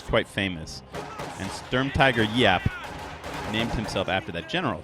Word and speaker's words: Giap: I was pronouncing it wrong with the hard G for like a year and then I learned that it's actually pronounced like a Y sound.